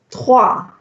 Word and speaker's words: trois: Trois. Trois. Remember, the OI has a wa sound.